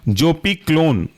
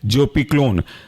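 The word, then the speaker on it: Zopiclone: पी इसके अंदर का एग्जांपल है पहला वाला जोपी क्लोन जोपी क्लोन की स्पेलिंग है जोपी जड ओ पी आई और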